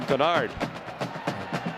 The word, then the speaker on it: Dennard: And Darquez's explanation was, when I was growing up, we were Dennard too, and then my mom got really mad at my dad one time and told us from now on we're pronouncing our name Denard.